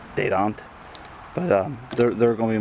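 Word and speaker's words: Dadant: I think it's a French name, so I'm pretty sure you're supposed to pronounce it Dedant.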